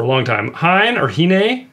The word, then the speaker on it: Hine: a review for a long time Hine or hene how do you say it Hine Hine h cigar Reserve it's an EXO and this